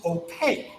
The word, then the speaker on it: opaque: it that word is opaque opaque kind of sounds like the word cake cake opaque means none